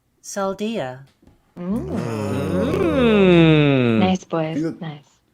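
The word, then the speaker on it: Saldaea: Pronounce this. Saldia. Oh my goodness gracious. It sounds so different saying it out loud than in my Goodness gracious. Pick a side, Kay. Saldea. Okay. Saldia.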